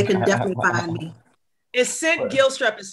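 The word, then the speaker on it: Cint: And St. Gilstrap is spelled C-I-N-T. Gilstrap, G-I-L-S-T-R-A-P. And it's important because, you know. Yeah, because a lot of people call me Clint.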